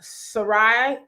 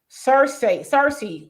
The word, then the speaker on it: Cersei: He says, wow, she did Sarai Lannister on Boyce.